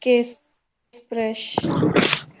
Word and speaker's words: Beratungsgespräch: There are 2 G's, I've not heard both of them. Berat. I need to hear both the G's there. Can you pronounce both the G's? Beratungsgespräch.